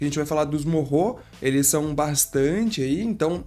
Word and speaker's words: Moreau: O original, assim, o jeito mais correto de se falar é de fato Morro, porque ele vem do